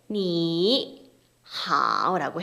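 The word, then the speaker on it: 你好: 자, 첫 번째 삼성의 성조 변화인데요. 우리 안녕하세요라는 발음 그 표현을 니 하오라고 해요. 지금 보면 삼성이라고 적혀 있죠. 그리고 표기가 V자 표시가 삼성이었어요. 그래서 니 하오 이렇게 낮게 발음이 되니까 좀 답답하잖아요. 낮은 음역대에서. 그래서 우리 삼성 만나면 앞에 건 좀 이성으로 좀 편하게 올려주자 이런 약속이 있습니다. 그 약속이 삼성의 성조 변화고요. 그래서 앞에는 니를 편하게 그냥 니 이성 이렇게 올라가는 거죠.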